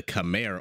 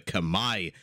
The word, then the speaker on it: Khmer: in red Mr yo playing as the Khmer or the Kamai however you want to pronounce it and in blue we